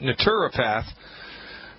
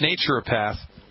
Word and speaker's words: naturopath: o PA thi see now if you're from the united kingdom you pronounce that naturopath but here in the good old US of A its nature a path that's what I am